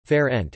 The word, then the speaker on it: Fernet: Fernet Italian pronunciation, Fer-ent, is an Italian type of amaro, a bitter, aromatic spirit.